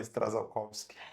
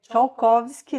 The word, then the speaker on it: Strzalkowski: Então, a doutora Stradzakowski. É Tchaikovsky, na verdade, mas todo mundo acaba falando Stradzakowski.